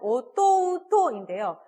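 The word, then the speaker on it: おとうと: 자, 근데 얘 발음이 좀 쉽지가 않아요. 오또또인데요. 이 토, 오 모음이죠. 우는 우모음이고 또 오모음이 이어집니다. 이렇게 오모음과 우모음이 연달아서 발음이 될 때는 앞에 거 장음으로 처리한다는 거 기억하시죠? 여기서는 어또또라고 토를 길게 발음을 해주시면 됩니다.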